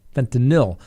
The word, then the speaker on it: fentanyl: So more than likely, it was probably fentanyl, not fentanyl, fentanyl. As I learned the correct pronunciation of that the other day, and I'm mispronouncing it.